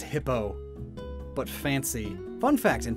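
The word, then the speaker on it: Hippeux: Hippieux. Supposedly pronounced Frenchly, so E-U-X, it's just O. Oh. The name is just Hippo.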